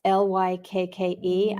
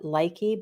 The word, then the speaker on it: Lykke: the Luca brand, that's Lykke. I know a lot of us call it Likey, but apparently that is not the correct pronunciation for that Danish word.